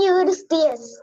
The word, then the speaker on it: Eurystheus: Are you able to pronounce the name of the king? King Eurystheus.